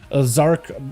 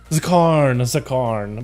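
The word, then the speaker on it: Zskarn: Zakarn. But you can see why it said Zark, right? I just like ignored the S, but also ignored the K.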